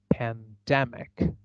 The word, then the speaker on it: pandemic: I stress syllable immediately before the suffix ick I see that is ick and this word then sounds like pandemic pandemic so that is the